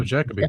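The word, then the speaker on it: Jacobi: No, Jackabe.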